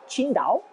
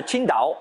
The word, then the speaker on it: Qingdao: chinois je suis d'accord vu l'écriture tsi ngt à eau vous ne pouvez pas mieux prononcé que sida ont en fait qui se prononce plutôt comme thil dans king thing he signifie vert bleu